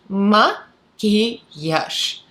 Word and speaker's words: maquillage: So maquillage, maquillage. So at the end there is a j, but when you pronounce it, it sounds more soft, almost like sh.